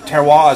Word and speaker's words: terroir: Now, again, terroir is everything. I finally said that word right. I can never said it say it right.